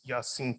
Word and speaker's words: Yasin: that regard yeah um my name is Yasin um yeah that's how you pronounce Yasin okay most thoughts just